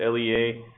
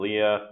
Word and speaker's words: LEA: lea professional um so it is pronounced lea not leah but uh the lea